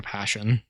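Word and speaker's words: Pettersson: pronounce his last name it's if you spell it it's the word person with two oh yeah yeah but he said when someone asked him that the pronunciation is closer to passion but i imagine that's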